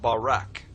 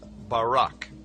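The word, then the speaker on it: ברק: the Hebrew word is barak. So lightning, or a flash of light, in Hebrew is pronounced Barak or Barak.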